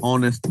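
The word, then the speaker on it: honest: আমরা যদি বলি এইচ এর উচ্চারণ, উহ্য থাকলে তারপরে বা তার পূর্বে আর্টিকেল অ্যান বসে। ফর এক্সাম্পল, আপনি বলেন না হি ইজ অ্যান অনেস্ট ম্যান। এই যে এইচ এর উচ্চারণ উহ্য থেকে, এটার উচ্চারণটা কেমন হয়েছে? ও দিয়ে হয়েছে না? উচ্চারণটা কি শুনতে ও এর মতো লেগেছে না? অনেস্ট ম্যান ও এর মতো উচ্চারিত হয়েছে, তার মানে ও যেহেতু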